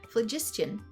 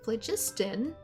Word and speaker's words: phlogiston: Geothermal vents periodically release gaseous, I can speak, phlogiston. Good gracious. You can use this gaseous phlogiston.